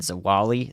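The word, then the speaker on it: Zwolle: the core of this so Noble Louisiana and zawali that's how you pronounce that and uh to to Many Louisiana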